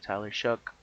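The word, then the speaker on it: Tyler Shough: Here you got Mahomes and uh Shuck, Tyler Shuck. That's how you pronounce it, by the way.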